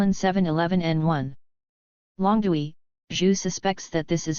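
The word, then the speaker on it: 龍: equal to 1/3 meter the character for Dragon this character is pronounced long 2011 the L Kang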